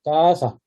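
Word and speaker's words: casa: 이 C 발음도 그 발음이 납니다. 된 소리로. 까사, 까사.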